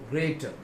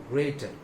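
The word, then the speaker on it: grater: It should be ग्रेटर. इसका सही pronunciation होगा, सही उच्चारण होगा ग्रेटर.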